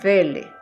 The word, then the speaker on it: Quelle: Para una mejor comprensión, la fuente Q proviene del alemán Welle, se escribe Quelle, pero en alemán no se pronuncia la U, sino que la U es una B, entonces decimos Welle, que significa fuente.